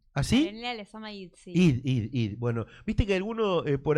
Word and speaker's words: Hid: Id. Bueno, viste que algunos por allí pronuncian la H, otros no.